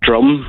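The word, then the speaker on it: Djrum: from him and a drum I think that's how you pronounce it it was called DJ Robin for a while but yeah I think it is drum with silent J I think it's time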